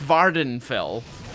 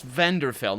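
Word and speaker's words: Vvardenfell: saying for many years like Vardhan fel is how I used to pronounce I used to pronounce pardon Varda vender fell that's the one I used to pronounce vendor fell not Vardhan fell which is a province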